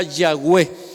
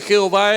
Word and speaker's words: Yahweh: La forma más correcta de pronunciar el nombre de Dios sería Yahweh. Pero si usted le dice Jehová, Él no se enoja. Si usted le dice Yahvé, tampoco se enoja.